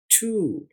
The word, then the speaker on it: two: अब इसकी आवाज में TWO असल में TO जैसी आवाज है। उर्दू में देखिए टेबल टू, ये देखिए टू, लेकिन स्पेलिंग में आपने TWO याद रखना है। ये TO आपको आवाज समझाने के लिए इस्तेमाल किया है।